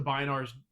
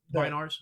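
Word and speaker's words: Bynars: whatever was the Binars' names?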